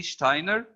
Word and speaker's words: Steiner: Steiner Rudy Steiner uh in German when we have the letter s followed by T or P for pen the S is pronounced sha so this is Rudy Steiner and am using character